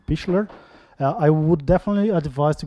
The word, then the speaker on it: Pichler: For those who don't know, Roman Pichler, I've just learned today how to pronounce his name, Pichler.